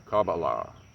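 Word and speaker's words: kabbalah: the gnostics you've got cabala or cabala as it's pronounced there are many different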